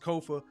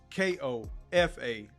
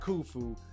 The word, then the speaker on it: Kofa: Once again, I am your humble host, Kofa, your favorite YouTuber's favorite YouTuber, K-O-F-A, not coffee, not Kufu, not Kofi, or any variation thereof. Kofa rhymes with sofa, easy to say, easy to spell.